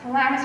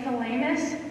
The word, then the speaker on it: thalamus: I can think of how, thankfully, I pronounced thalamus correctly, because Carolyn Clements was making fun of me all during economics today that I was saying thalamus, which is incorrect.